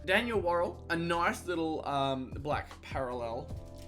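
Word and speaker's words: Worrall: Worrell, yeah, it is Worrell.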